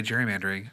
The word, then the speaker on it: gerrymandering: Gerrymandering's been around since. Although I say gerrymandering, another fun fact, pronounced gerrymandering because it was named after a man, Mr. Gary, from I want to say Connecticut, maybe Rhode Island.